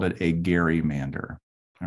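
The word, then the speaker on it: Gerry: to their family but they are insistent that gary is the way to pronounce it so let me raise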